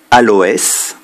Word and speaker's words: aloès: également avec ds prononcé exemple aloès le s est prononcé herpès le s est